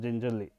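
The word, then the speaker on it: gingelly: L of Ginger oil it is pronounced as gingeri okay gin jelly oil is 2 lit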